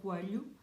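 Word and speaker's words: Coelho: think of his book find it funny when people try to say his name they always say it in a strange way it is portuguese sound which we form with l and h so i read the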